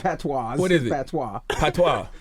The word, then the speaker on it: patois: Patois. It's not patois. What is it? Patois. Patois. My The S goodness. is silent.